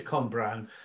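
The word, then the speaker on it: Cwmbran: It is Cumbran.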